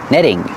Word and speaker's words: netting: say netting remember the T in netting is pronounced like a fast e netting this is netting and these are called Stakes